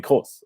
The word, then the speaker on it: Kroos: of Luka Modric and Toni Kroos, or Toni Kroos if you want to pronounce it the English way, and obviously Casemiro as well, in that midfield three of Real Madrid.